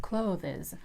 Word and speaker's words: clothes: The word "clothes" is pronounced without that "e" between the sound "th" and "s".These sounds are very similar that's why sometimes "e" just pops in like clothEs, but no, this is not the correct pronunciation.